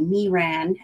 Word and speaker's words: Miran: to pronounce it because she said me ran as in me ran to my craft room uh but she made